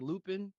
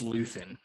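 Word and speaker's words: Luthen: with Stellan Skarsgard character his name sounds like Lupine but I know it wasn't Lupine but that's how I was like remembering it you Mikey do you have the correct pronunciation it is Lutheran oh Lupine the third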